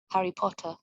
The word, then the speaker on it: Harry Potter: Harry Potter. Harry Potter. Harry Potter. Harry Potter. R-nya cenderung hilang. Oke, cenderung tidak diucapkan.